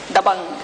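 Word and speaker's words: Dabangg: But I want to be sure I'm pronouncing it correctly perfectly. Dang. Dang. It has that power in it, right? Dabang.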